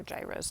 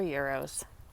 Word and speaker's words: gyros: to go with our gyros tonight or euros however you prefer to pronounce it okay my this